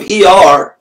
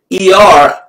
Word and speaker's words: Iyar: But the month of Iyar, right now, we're actually in the Hebrew month of Iyar, and soon we're going to switch to Sivan.